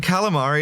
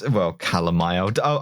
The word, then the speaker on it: Calamai: and Calamari is Calamai. I'll say his name right for this last bit.